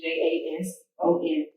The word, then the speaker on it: Jayson: name was bill jason j-a-s-o-n but um when jason came i spelled it j-a-y s-o-n but it's still pronounced the same so that was my